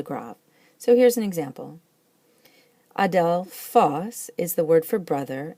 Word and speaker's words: ἀδελφός: Adelphos is the word for brother, and it likes to be accented on the last syllable.